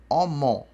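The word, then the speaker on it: ọmọ: Omó, né? Ou omó, está escrito ali. Omó. Omó porque as duas vogais são abertas, tá?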